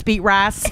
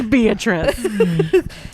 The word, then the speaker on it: Beatrice: I was like, you go get those rabbits, beet rice. Beet rice. It's like, first of all, I get that it's spelled beet rice. Nobody's name is beet rice. Her name is Beatrice.